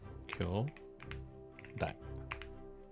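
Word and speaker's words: きょうだい: Kyodai. Which means brothers and sisters, or siblings. And pronunciation is Kyodai.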